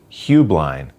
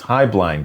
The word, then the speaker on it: Heublein: Some of the company's later advertising used the pronunciation Hublind, but my mother used to always say it was Highblind Tower.